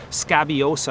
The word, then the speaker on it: scabiosa: If I have this word scabiosa on the screen, that I-O in the middle, you try not to blend that into scaboisa or something like that.